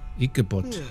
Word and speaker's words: Ichabod: Ichabod.